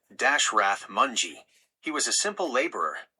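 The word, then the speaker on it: Dashrath Manjhi: In a remote village in India, there was a man named Dashrath Mji, pronounced Dashrath Mongji.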